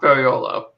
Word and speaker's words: Ferraiolo: Pronounced Ferraiolo. Ferraiolo? Is that it? Yeah.